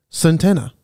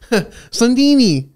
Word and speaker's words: Santini: Oh, no. Santini. I don't know how you say it. Santana. Oh, Santini. How do you say that? Santini, Ryan. Oh, Santini. What did I say? Santana? I don't know. I was thinking Spanish.